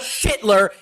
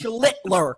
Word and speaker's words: Schlittler: That's not how you say it. It's not Schittler. It's Schlittler. Got to put the L in front of shit.